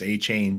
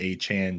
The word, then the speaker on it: Achane: I'll tell you what, it sounded a lot better when it was Achane train before he corrected everyone and made it Achane train. Yeah, now we got to rhyme with like what 4chan.